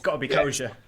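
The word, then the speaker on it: Koca: He's like, I'm not Koja!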